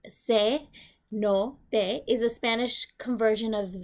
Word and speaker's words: cenote: The word cenote, which you hear me pronounce, is se no te, is a Spanish conversion